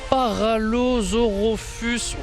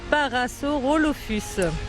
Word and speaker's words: Parasaurolophus: Derrière moi, j'ai le premier spécimen de dinosaure à Paralosaurolophus. Je crois que je l'ai pas du tout. Isa, dites-moi comment on prononce. Parasaurolophus.